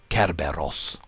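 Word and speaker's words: Κέρβερος: the greek underworld actually to pronounce it correctly in greek it would be kerberos uh if i'm not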